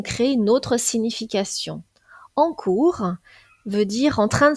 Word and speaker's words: cours: phonétique internationale de cours cours il ne faut pas confondre cours avec un S avec un autre mot qui se prononce de la même façon court mais qui lui est